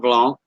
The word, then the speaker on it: Blanc: All of that area on the south side of Abbeville is called Mont Blanc with a silent C. With the silent C.